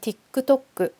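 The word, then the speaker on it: ティックトック: 자, 이게노와 페이스북야 인스타그램, 틱톡 X나노 SNS데나노 그러면 사용하면 안 되는 것은 페이스북이나 인스타그램, 틱톡이나 X, 틱톡 발음은 디크도크 이렇게 크크가 나오게 해 주시면 되겠고요.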